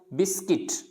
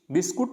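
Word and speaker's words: biscuit: क्या पढ़ना है इसको, बिस्किट, बिस्कुट नहीं बोलना। ज़्यादातर क्या बोलते हैं इसको, बिस्कुट, बिस्कुट दे दो, बिस्किट होता है बिस्किट।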